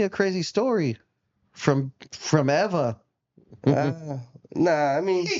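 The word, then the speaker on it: ʻEwa: Uh it's Eva. Ah yeah W is like a V.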